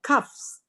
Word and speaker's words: coughs: Perhatikan di sini bacanya cuffs. K-A-F S ya. Jadi UGH nggak usah dibaca.